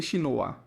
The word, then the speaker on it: Shinoa: Da mesma forma, o caractere de Shin é Ninja, mas ele diz que se lê Shinoa.